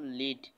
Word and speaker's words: lead: যেমন লিড, LEAD লিড, LEAD লেড। এদিকেও কিন্তু বানান ঠিক যা আছে, এদিকে বানান তাই আছে, কিন্তু এদিকে লিড আর এদিকে আছে কি লেড।